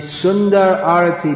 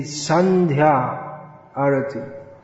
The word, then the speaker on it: sandhya arati: because at that time the sunder arty begins right sundarati sundara means beautiful saudi the rit is very beautiful no doubt but it what it should be said is the sandhya arati or shandha in bengali